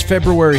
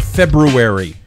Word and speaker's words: February: Gentlemen, it is February 13th. Notice I said February, not February. Say it right. February. Yeah, you hit the R.